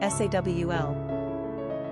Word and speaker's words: Saul: pray for a tall, handsome, kingly boy, then Saul might be the perfect choice for you. Quick facts on Saul. Gender, boy. Origin, Hebrew. Number of syllables, 1. Ranking popularity, 439. Pronunciation, Sawl.